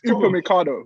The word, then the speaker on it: Upamecano: It's Upamecano, but let's be realistic.